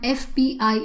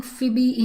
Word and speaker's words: FBI: So you take the sound you pronounce each word each letter separately. MBA and there's always a dot in between. So you can use an an FBI agent. You will never hear anybody saying Fibby agent.